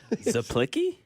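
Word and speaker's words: Czaplicki: Zlicki. Zlicki. Spell it again. Say that accent again. Eddie. Eddie Ziki. Spell it. CZ. Right. The C silent.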